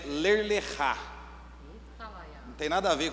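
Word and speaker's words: Lech Lecha: O tema é ler lechá. Não tem nada a ver com o que daqui, né? Mas é assim que se escreve, só que a pronúncia ela é diferente. Ler lechá, fala ler lechá.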